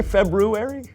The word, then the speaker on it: February: February did you say February I know there's an R there but most people don't pronounce it oh well most people